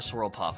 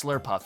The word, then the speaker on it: Slurpuff: just sworlex or a swirl puff i forget which what are you actually swirl puff that's what it is and uh argus slurpuff is the correct pronunciation of that not swirl and then we have